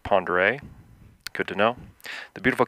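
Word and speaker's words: Pend Oreille: Flight will follow the Clark Fork River and Highway 200 to Lake Pend Orville, pronounced Pondere.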